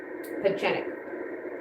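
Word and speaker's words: Pieczenik: But there's a chen in there. So Steve Pachenic.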